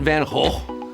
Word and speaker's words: Van Gogh: the starry night Vincent van whole Vinnie Chase or Vin Diesel yeah I'm trying to pronounce it the proper Dutch way then oh ho man ho okay van Gogh you know him by